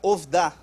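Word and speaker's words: עבדה: Agora, reparem que agora, ele apenas acrescentou uma outra letra ali, mas é da mesma raiz, que aqui a pronúncia fica ovdá.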